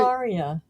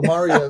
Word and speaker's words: Maria: Maria. I just can't do it. Rhymes with how are ya? How are you, Maria? Is like with Mar-a-Lago. us. Mar-a-Lago, Maria.